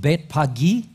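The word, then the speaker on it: Bethphage: of Beth in Bethany the word is actually pronounced bet pagi and betani pagi or pagy fruit is a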